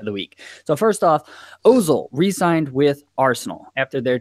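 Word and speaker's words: Özil: It's Ozil. You pronounce the umlaut over the O.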